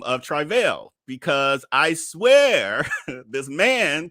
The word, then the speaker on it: Travell: the way but do calls himself trival I literally wrote it down again I was like he keeps saying travail I need y'all to hear him say his own name because everybody like you pronouncing it wrong I'm just saying with